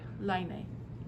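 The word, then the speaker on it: Laine: which is where um i should say it right line or lane magazine is um from right so say again so i can say it line a line a line okay line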